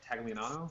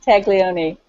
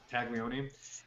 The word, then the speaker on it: Taglioni: Marie, how do you say it? Tagliano? Is that right? Even close. Taglioni. Taglioni. She is the Toreador.